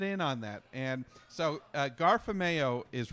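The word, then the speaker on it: 加菲貓: It's Garfameo. And because the last syllable is Mao, Garfameo, the meow. The meow sound of a cat.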